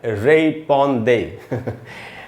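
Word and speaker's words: répondez: अच्छा दोस्तों, ये एंड में जेड है। फ्रेंच लैंग्वेज में जो एंड, किसी भी वर्ड के एंड में जो कॉन्सोनेंट होता है उसका उच्चारण नहीं होता, वो हमेशा साइलेंट होता है।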